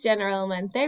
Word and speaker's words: generalmente: So, and we don't say this generalmente, we say generalmente, generalmente. So the G in this case makes a H sound because it's followed by an E or an E.